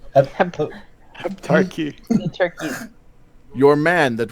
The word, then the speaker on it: Heptarchy: No, we are not with the Hepatarchy. Hepaturchy. How do you say it? Heptarchy.